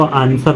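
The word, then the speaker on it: answer: तो ए साइलेंट है एस के बाद डब्लू आया है तो डब्लू साइलेंट है इसको शर्ट पढ़ेंगे इसको आंसर पढ़ते हैं कभी कभी बहुत सारे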